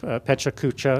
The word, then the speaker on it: pecha kucha: a presentation format called pecha kucha it has various pronunciations that's the one we've decided because it's easiest to say and the for the